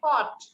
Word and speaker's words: caught: me miss এই যে হচ্ছে যে CAUGST এটা উচ্চারণটা কি হবে আচ্ছা CAUGST হচ্ছে কট কট কট মানে ধরেছিল ক্যাচের পাস্ট টেন্স caught